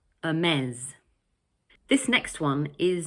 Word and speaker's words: Hermès: In English, it's pronounced Hermès. Notice that the final S sounds like a Z. So we say Hermès.